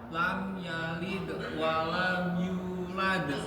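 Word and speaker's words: لم يلد ولم يولد: Di bagian lam yalid walam yulad. Ya-nya bacanya jelas kan? Yulad. Coba ulangin kamu. Lam. Lam yalid walam yulad.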